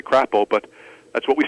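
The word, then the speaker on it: Crapaud: dad how do you pronounce the name of that town knowing that it couldn't be crapple um it is indeed it is that's how you say it it's actually what it's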